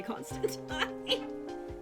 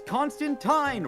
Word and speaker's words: Constantine: the pub one night I hate that you say Constantine but it's Constantine rhymes with wine oh it's Constantine they